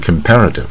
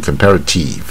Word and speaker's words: comparative: 在这个也是蝴蝶音 comparative 啊，当这个 ip 这个 tib 这个稍微注意一下 tip。不要念 comparative 啊，compare 我们比较是关